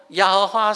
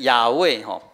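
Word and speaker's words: 亚卫: 好，就是因为在学者发现讲耶和华是一个错误的念法，要念成亚卫其实我看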